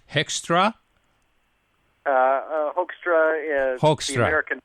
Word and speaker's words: Hoekstra: spell your name because I don't know it's hextra uh HRA is the American pronunciation be HRA it's kind of a Dutch name so hookstra HRA HRA but j o e l